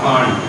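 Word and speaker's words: Pfund: আর একটা যদি যেহেতু হাইয়েস্ট সবটাই থাকতে পারে, তাহলে এর নাম হচ্ছে ফুল বা ফান্ড, যেটাই স্পেলিং টা হচ্ছে ইংরেজিতে PFUN, পি এখানে সাইলেন্ট, ফুল সিরিজ, বাংলাতে ফুল বলে।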